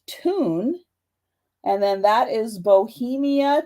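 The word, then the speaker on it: Thun: on the back so this t-h-u-n is actually pronounced tune and then that is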